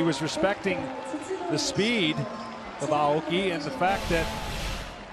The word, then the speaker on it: Aoki: to be called norichika his last name is pronounced aoki not aoki as we've been butchering it all these years here in the states